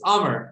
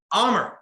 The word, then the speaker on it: Amr: So it's Amr, like hammer, but without an H. That's the easiest way. Amr. Easy. Amr. Yep. Something like that. That's it. It kind of looks like you would say like Amr, but it's Amr.